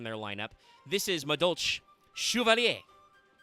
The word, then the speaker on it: Chevalier: This is Madolche Chevalier. Pronounced in Japanese, Chevalier. So, yes, it's Chevalier. Not Chevalier, Chevalier.